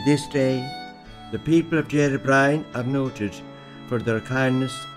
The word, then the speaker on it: Derrybrien: Antair Eric Machin of UCG insisted on the old pronunciation Derrybrien. Brien means a fairy dwelling, a hostel of strife. Even today, the broad R is accented by some older people.